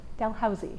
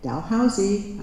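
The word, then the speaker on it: Dalhousie: Uh Kira has a BA in history and costume studies from uh the Dal Dalhousy Dalhousy. I forgot to ask you how to pronounce that.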